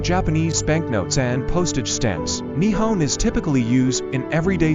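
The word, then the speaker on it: 日本: in Japanese is written using the Kian is pronounced nipon or nian hipon the original Ceno Japanese reading of the characters is favored for official uses including on Japanese banknotes and postage stance nion is typically used in everyday speech and reflects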